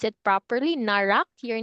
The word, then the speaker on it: Narak: is n narak okay did I did I pronounce it properly narak your name is narak right yes okay so